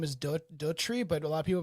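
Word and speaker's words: Docherty: Her last name is Dory, but a lot of people have been pronouncing dirty.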